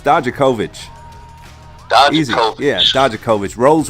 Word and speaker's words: Dijakovic: It's Dijakovic.